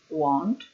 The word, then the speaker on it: won't: Es un futuro con will, en negativa, won't, won't. Won't, will not, la pronunciation era un diftong, O-U, won't.